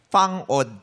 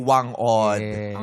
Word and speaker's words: Wang Od: at least may relasyon napagtanto namin na ang totoong tawag pala o bigkas doun sa pangalan niya sa kanilang lugar a ano fang od pala od pero tayo na ano ang nakasanayin natin wang od yung ganon Chinese Fang OD parang F hindi ko alam.